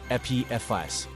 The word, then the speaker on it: Apophis: apus has its nuances in Greek mythology it's pronounced with the accent on the first syllable EP FS however thanks to Stargate